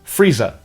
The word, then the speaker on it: freezer: But the Cockney dialect and most dialects of England are non-rhotic, meaning that the R consonants are only pronounced before vowels. Freezer in North American English is Frieza in Cockney English, and Lisa rhymes with Frieza.